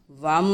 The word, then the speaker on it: वम: तो उसका उच्चारण इस तरह है, वम वम वम।